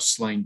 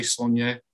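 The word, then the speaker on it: Sláine: will try and say sonia i really will how do you pronounce it um well i i you know i started off calling it slain uh because i didn't really think about the accent and it was only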